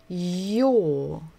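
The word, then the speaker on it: ё: top so this is this letter is Yo Yo like we make sound and oh yo um again there it's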